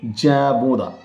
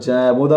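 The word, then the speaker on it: Jean Bodin: তার নাম হচ্ছেন ফরাসি রাষ্ট্রবিজ্ঞানী জ্যাবোদা। যখন তোমরা জ্যাবোদা বলছো তখন জিন বোদা এই উচ্চারণটা তোমরা কিন্তু বোর্ডে লিখে দিও।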